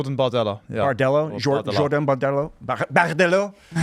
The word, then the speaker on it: Bardella: TikTok, you got like Nigel Farage and Jean Bardelot. Is that how you say his name? Jordan Bardella.